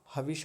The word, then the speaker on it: हविष: में है हवश हवश हविष में एक बड़ी महत्वपूर्ण बात है मूर्धन्य शकार। यह जो है जिसको श षटकोण हम बोलते हैं। इसका उच्चारण मूर्धा से होता है।